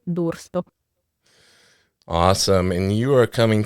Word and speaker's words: D'Urso: today by Miss Dururso. Did I over-enunciate? Yes. Tell me the proper way to say it, because I knew I was going to butcher it. Oh, no, it's okay. It's Dursto.